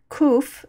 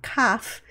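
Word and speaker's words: קוף: Sometimes people remember that this one is pronounced kuf and not kaf because the kuf extends down below the line, so it's somehow longer.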